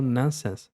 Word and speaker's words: nonsense: outro que é o nonsense, tá? É só essa diferença, mas importante você saber mais esse início, ó. Nonsense. Nonsense, OK? Você não precisa falar a letra O de ovo.